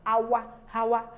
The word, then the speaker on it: hour: are ago not an hour hour ago no the H is silent when we continue we